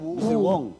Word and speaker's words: Wu: Wu po.